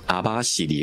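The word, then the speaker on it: 網走: 頭先我講咗讀咗啦，網走係讀阿巴士尼。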